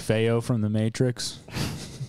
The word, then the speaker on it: feo: right now stressed like feyo from the matrix like me neo but spanish for ugly and it's spelled feo nice um that's it